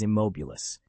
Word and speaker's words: immobilis: The incantation you should use is immobilis. It derives from the Latin immobilis, meaning motionless. Remember, a proper pronunciation can mean the difference between a perfectly stilled teacup and a rather messy one."